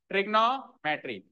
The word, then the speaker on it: trigonometry: तो हम कैसे बोलेंगे इसको? ट्रिगोनोमेट्री। कैसे बोलेंगे? ट्रिगोनोमेट्री, ट्रिग्नो नहीं, ट्रिगोनोमेट्री।